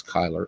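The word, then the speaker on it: Cuyler: Uh he was asked and he said, "Yeah, my last name is Kyler.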